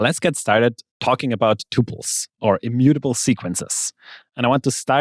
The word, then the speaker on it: tuple: pronunciations of the word Tuple the first one is the one I just said Tuple so you would pronounce it like in the word quadruple and another one is